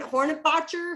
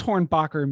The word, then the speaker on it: Hornbacher: that was easy and now i'm hornbacher and they're like horn hornet boxer horn you know so i have to spell that too so i'm used to it by now what does hornbacher mean what's the origin